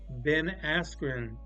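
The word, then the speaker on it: Ben Askren: ready for the answer and the answer is Ben asrin that's how you pronounce it Asen yeah Ben something Ben asrin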